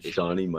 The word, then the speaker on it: Seany: Instagram is Sean yeah shie shie my soul okay I've been saying it bro I've been saying it wrong the whole time I've been saying my soul I never tell me